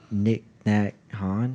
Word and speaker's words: Thich Nhat Hanh: I don't know how to Joe pronounce- Rogan gets mad. Nick Nat Han? Yep. That's Thich him. Nhat Hanh. Yeah. Thich Nhat Hanh.